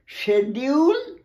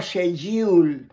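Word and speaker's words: schedule: ওয়ার্ডটা মাত্র একটা ক উচ্চারণ, সি এইচ ক উচ্চারণ হচ্ছে না, এইটা এস সি এইচ ই ডি ইউ এল ই, শেডিউল বা শেজিউল, সে তাহলে বস হয় একার, শেডিউল মানে তোমার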